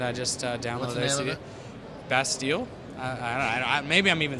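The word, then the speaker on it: Bastille: i i just got a new band uh best deal uh is a band i just uh downloaded it best deal maybe i'm even saying it wrong i have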